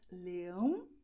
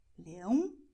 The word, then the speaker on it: leão: So you have the words leão, leões, leão, leões, lion, lions. As you see, in English it's a little nasal, but in Portuguese you go and, well, you will make it really nasal, okay?